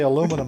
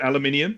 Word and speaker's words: aluminium: say aluminum a little differently too. So Yeah, aluminium. We say aluminium. Yeah, we like to chuck an extra syllable in there.